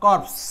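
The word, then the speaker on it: corpse: এই যে ক্যাডেভার অথবা কর্পস মানে হচ্ছে মৃতদেহ সো একটা কথা এখানে মনে রাখবেন কোন শব্দের শেষে যদি ই থাকে তাহলে এই ই এর উচ্চারণটা হয় না ইংরেজি শব্দের যত জায়গাতে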